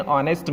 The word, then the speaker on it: honest: Remember, we say an honest man because honest begins with a vowel sound O as in orange. So we put an before honest. The letter H is silent in the word honest.